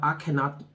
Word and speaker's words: Akhenaten: But you also have Akhenaten. That's spelled A-K-H-E-N-A-T-E-N.